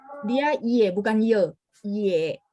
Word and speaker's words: 也: 我也, dia ye bukan ye. Ye. 我也很好. 我也很好。 Ye ya bacanya ye.